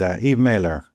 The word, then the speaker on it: Eve Maler: And with me today is Eve Mailer. I'm hoping I'm pronouncing that correctly, Eve.